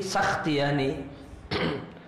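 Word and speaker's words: سختياني: Sakhtiani itu sinnya di fathah, ya, berarti bukan sikh namun sah, ya, banyak yang nulis Sakhtiani namun yang benar bifatis sin, sinnya di fathah, berarti Sakhtiani.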